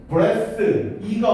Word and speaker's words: breathe: For 이거 to 부정사의 의미상 해주고 여기 to 부정사 breathe의 E 꼭 체크하시고 스펠링 breath E가 없으면 breath라고 발음하고 E가 붙으면 breathe라고 발음합니다.